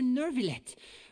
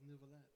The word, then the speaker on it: Nouvelet: Oh, Monsieur Nervillet. What an honor it is to have you here to see my show. That's an odd way to pronounce it. It's Nouvelet.